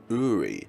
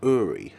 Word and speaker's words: Uri: Uri. So that's how you pronounce the name. Uri. Sorry, but I keep saying Uri.